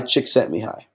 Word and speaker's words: Csikszentmihalyi: It's pronounced chick, like a baby chicken. Sent, like you sent some mail. Me, as in me, the person. And hi, as in you're saying hi to someone. Mihai Csikszentmihalyi.